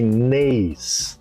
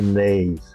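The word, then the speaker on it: Naas: Aí eles me indicaram para um hospital na cidade de Neis. Lei se escreve N a A S.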